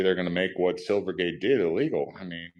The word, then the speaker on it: Silvergate: Silvergate?